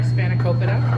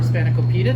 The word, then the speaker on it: Spanakopita: So it's been an hour, and our Spanakopita, or Spanakopita, depending on how you want to pronounce it, is out of the oven.